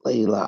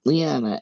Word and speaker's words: Leigh: elizabeth and then leela no i'm not leela i'm saying it wrong um what is it lee oh yeah it's lee leigh h anna is a middle name not lyanna it's lee my name is anna all